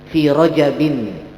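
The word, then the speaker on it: رَجَبٍ: Maka dibacanya fi rajabin, itu yang paling fasih. Fi rajabin. Tapi kalau ada yang membaca fi rajaba juga benar, cuman yang paling fasih itu adalah fi rajabin.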